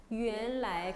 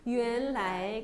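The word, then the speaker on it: 原来: 原来. 그리고 아세요? 원 발음은 제가 유엔 발음 난다 그랬잖아요. 이성이 제일 많은 것 같아요. 이성이. 모르면 이성으로 찍어요. 그래서 어떻게 해요? 原来.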